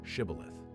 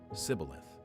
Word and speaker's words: Shibboleth: Then they said to him, "Now say Shibboleth." And he said, "Sibboleth." For he couldn't manage to pronounce it correctly.